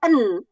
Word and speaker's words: een: Is er een moskee in the buurt?